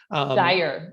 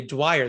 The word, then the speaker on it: Dyer: And it's funny, there's a street in my county that people know is Dyer Road. And yet when they come and ask me my name, they always say Dyer. They say it wrong, even though they say the street name right.